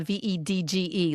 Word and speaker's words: Vedge: And it's spelled veg, like veg, like hedge rhyming with hedge.